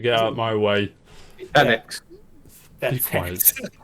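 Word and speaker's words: Fenix: Phoenix. Be quiet. That's how you spell it. It is. Well, it is. It's like F-E-N-I-X.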